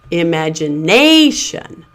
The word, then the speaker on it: imagination: So the second syllable, madge, is pronounced as a secondary stress syllable. It's not quite as loud and long as the primary stress syllable, but it still has that clear vowel sound, and it still stands out more than the weak syllables around it.